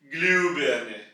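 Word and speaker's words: Glühbirne: यानी कि 2 डॉट्स, तो इसकी आवाज थोड़ी सी फ्लैट हो जाएगी, ग्लूबर्ने, ग्लूबर्ने।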